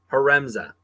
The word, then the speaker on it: Haremza: Haremza.